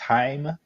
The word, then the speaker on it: Haim: Now that I've heard this said out loud, it's pronounced Haim.